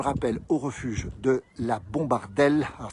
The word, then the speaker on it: Bombardellaz: Nous sommes, on le rappelle, au refuge de la Bombardelle. Alors ça s'écrit Bombardellaz, mais on ne mange pas, on mange plutôt les AZ.